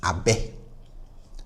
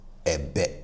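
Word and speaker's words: abɛ: So we say this as abe, abe, and not ebe. No, we say abe, abe.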